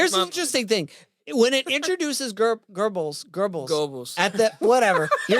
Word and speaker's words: Goebbels: That's how you say it. Goebbels, but yeah. Goebbels. Yeah. Thank you. Sure. So- no R. Goebbels. Goebbels. You have to So- almost say the R, but then not.